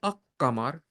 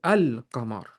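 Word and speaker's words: القمر: If it is a letter of the qamar, yes, we do pronounce the lam.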